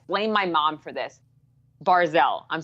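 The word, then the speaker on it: Barzal: And I always say his name wrong, and I blame my mom for this. Barzell. I'm saying it right that time, right? Yes, Barzell.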